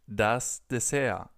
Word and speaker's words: Dessert: We just pronounce it das Dessert. Das Dessert. So a little more like the original pronunciation in French, where this word is actually from.